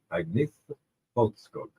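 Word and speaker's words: Agnetha Fältskog: there, and it was something like Agnetha Folkskog.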